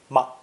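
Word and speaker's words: 吗: interrupted particle ma five the neutral tone ma is by far the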